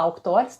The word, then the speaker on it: Auctores: Se escreve Avictores, A-V-C-Tores, né? Avictores, tá? V mudo, Avictores. E essa Auctores, a gente fala Auctores, tá?